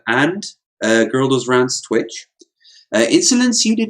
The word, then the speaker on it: Ins0lence: We're also joined for the first time by Ins0lence, and all I can think of is that's a 0, so I could say Ins0lence. Yes, exactly. That's how you pronounce it, everyone.